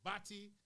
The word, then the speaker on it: batty: I guess maybe the Caribbean as a whole can be extremely homophobic, and Batty, as you see there, would usually be pronounced Bati, and put man in the front of it to describe people who are gay.